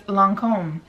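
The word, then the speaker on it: Lancôme: how you say it they taught me how to say it and it's Lancome is how you say it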